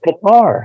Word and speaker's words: Qatar: How do you pronounce that? It's Qatar.